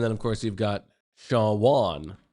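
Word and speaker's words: Shawon: And then of course you've got Shawn Wan, Shawn Dunston. S H A W O N.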